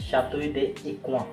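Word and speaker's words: Château d'Écouen: जैसे प्रोनाउंसिएशन करें तो इसका नाम बोला जाता है शातुई दे इक्व।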